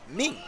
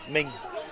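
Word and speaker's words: Minh: So Min is a Vietnamese name spelled M I N H and it's pronounced almost like M E N G. Ming Ming.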